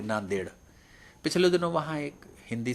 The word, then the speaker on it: नांदेड: डी ई डी है तो यह देड है देड में डी और डी दो बार डी आया और दोनों का उच्चारण अलग अलग है तो ऐसी विसंगतियां यह